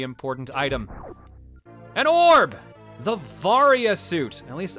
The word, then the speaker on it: Varia: varya suit at least i'm pretty sure that's how it's pronounced i hope it's not varia because i believe it is supposed to sound like variable which would be varia but i've always said varya the varia suit gives